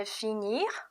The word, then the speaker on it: finir: 그러면 발음이 원형에서는 finir, r까지 발음이 있었지만 과거 분사는 그냥 fini.